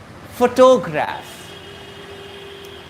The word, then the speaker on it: photograph: how to speak or how to pronounce photograph four to graph four should be spoken first for and for telegraph